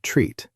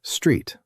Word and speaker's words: street: Some learners say treat, but it's just street altogether.